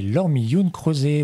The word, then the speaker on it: Laure Mi Hyun Croset: Bonjour et bienvenue dans un nouveau numéro de fait des interviews avec en invité Laure Millioun-Crozet. Bonjour Laure. Bonjour. Ai-je bien prononcé ton nom?